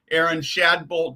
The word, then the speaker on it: Erin Shadbolt: Erin Shadbolt, did I do your pronunciation right?